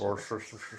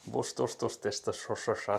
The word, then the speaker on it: Worcestershire: Oh yeah, it's just Worcester sauce, so I guess that's Worcestershire. Worcestershire sauce.